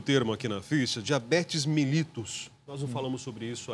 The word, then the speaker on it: mellitus: É mellitus, é isso? Essa seria a isso, pronúncia.